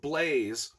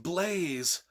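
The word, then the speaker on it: Blaise: there's this guy named blaze i love that name by the way b-l-a-i-s-e and i pronounced it blaze from the get-go correctly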